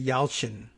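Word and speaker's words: Yalçın: y'all shindag it's a y-a-l-c-i-n which should be yalchin i think in turkish d-a-g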